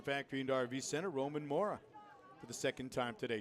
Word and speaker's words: Mora: and RV Center, Roman Mora for the second time today. Strikeout his first time. There's a swing and a miss. It's not more, it's Mora. It's Roman Mora.